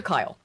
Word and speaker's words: Kyle: Now, let's get to Peter Kyle, who as Bill brought up, his name rhymes with pedophile.